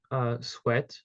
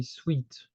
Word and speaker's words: sweat: In French, it's very common to call them like this, but we wouldn't pronounce it the English way with sweat. We would say sweet, okay?